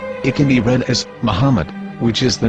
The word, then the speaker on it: Muhammad: Ben yehuda's Hebrew English dictionary it is correctly pronounced as Muhammad not mmad so how we're going to know